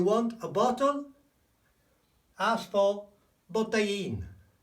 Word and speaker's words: botellín: Oh, remember the pronunciation? Un botellín.